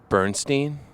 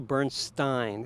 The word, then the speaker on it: Bernstein: out some dead celebs so was it lettering Bernstein no it's actually Bernstein is the correct pronunciation is it Leonard or is it leo